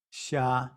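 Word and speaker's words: 杀: another common character which means to kill it's pronounced sha and you can see the simplified character and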